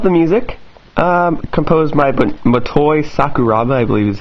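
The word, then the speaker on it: Motoi Sakuraba: stuff I love the music um composed by matoy sakuraba I believe is how you pronounce his name fun game I believe I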